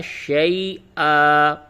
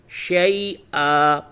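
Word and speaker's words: شَيْئًا: پہ وقف کریں گے تو ہوگا شی آ، اور ہجے کریں گے شین یا زبر شی، حمزہ الف دو زبر ان، شی ان، اور وقف کر کے رواں پڑھیں گے شی آ، ایک صورت۔ دوسری صورت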